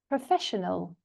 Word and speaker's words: professional: Professional. Professional. So you see it goes up. The stress is on the second syllable.